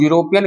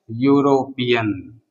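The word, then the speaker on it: European: Because इ का जो साउंड है वो हिडन है। इ का साउंड जो है साइलेंट है। हम यूरोपियन कैसे पढ़ते हैं? इसका हिंदी उच्चारण कैसे लिखते हैं? यूरोपियन। इस प्रकार लिखते हैं। ये य कौन सा आता है? व्यंजन वर्ण के अंदर आता है। अर्थात इसका भी साउंड क्या है? कंसोनेंट साउंड है।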